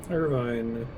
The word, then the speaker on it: Irvine: his irvine selfie we're destined to be together see irvine or irvin the city is called irvine pronounced turbine parts pounding what is